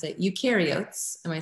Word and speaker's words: eukaryotes: yours i had to look up how to pronounce it eukaryotes am i saying that correctly yes it's a